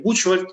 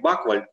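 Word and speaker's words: Buchwald: Іноді некоректно його читають як Бучвальд, тому що CH там пишеться англійською літерою. Кажуть, правильно взагалі вимовляється воно взагалі як Баквальд, тобто на англійський манер чтення таких прізвищ. Але, в принципі, виходячи через німецьке походження явне цього прізвища, то, мабуть, що більш коректним буде саме таке написання.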